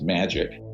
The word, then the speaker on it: Majic: So that's where I get into the the majority intelligence committee, Majic. It's pronounced magic, ironically, uh or not ironically.